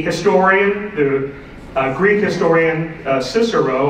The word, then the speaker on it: Cicero: uh Greek historian Cicero although he probably pronounced it Karo uh they didn't have the c h they were too poor I guess but they didn't have that that way of saying the the sea in those days I don't even